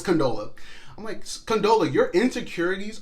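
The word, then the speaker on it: Condola: I just would say I always say condolence name wrong in other videos I think it sometimes I call her Candela but it's canola Oh Mike canola in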